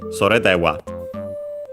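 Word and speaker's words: それでは: By the way, sore unaccented, and so the accent would actually be in this case on the de, because actually when we have this, and also dewa on its own, the accent is on the first particle.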